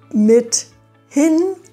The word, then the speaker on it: mithin: Wenn man die Wörter richtig trennt, mithin und Brathering, dann ist es viel wahrscheinlicher, dass man das Wort beim ersten Mal versteht.